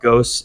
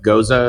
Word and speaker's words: Gose: were talking earlier about ghost is it Goa or is it ghost uh I mean I've heard it pronounced both ways but goza is what I've yeah good all right